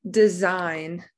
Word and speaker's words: design: try a different one design design uh i do not he i don't hear the g if we heard the g it be designed good that's a silent g rhythm rhythm i hear